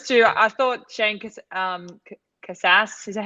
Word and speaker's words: Casas: old but those two I thought shank um Casas is that how I say it how do you say it yeah Cassis okay um I actually thought I was a